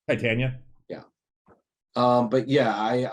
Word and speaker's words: Titania: rangers show yeah it's actually uh it is pronounced titania titania yeah um but yeah i i saw that